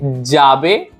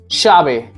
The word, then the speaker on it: llave: And elye, in some countries like Mexico, we will say llave, llave. And in Spain we will say llave, llave. Even in Argentina it sounds like sha, shave, shave.